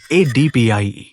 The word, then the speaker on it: ADPIE: याद रखने का सबसे इजी तरीका ये रहा, ADPIE। इसको प्रोनाउंस करो ADPI और एग्जाम में कभी सीक्वेंस नहीं भूलोगे।